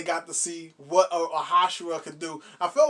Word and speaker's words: Hashira: If only the sun was a Hasuki. Wait, how do you say it? Hashirama.